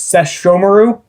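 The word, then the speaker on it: Sesshomaru: apparently i've been saying i say sesh more it's seshomaru i believe if i'm pronouncing that correctly now been butchering his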